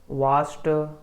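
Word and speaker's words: watched: तो एक्चुअली में इसको ड ना प्रोनाउंस करके ट प्रोनाउंस किया जाता है। इसे लुक्ड, वाच्ड और क्या होता है?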